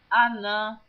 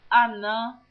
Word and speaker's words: Anã: Então, você veja, a pronúncia é a mesma, mas um é com H e o outro não é com H.